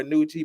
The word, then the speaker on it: Nucci: Before the guests, you already know we got the man who you barely see anymore, Nucci, about to get fired. His name rhymes with Gucci.